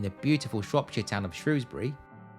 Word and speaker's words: Shrewsbury: Scott, and was shot entirely on location in the beautiful Shropshire town of Shrewsbury, and yes, I know it can also be pronounced Shrewsbury, you can argue that